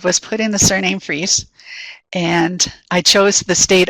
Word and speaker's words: Fries: pointing to the name it looks like fries but it's a German name pronounced free and um I can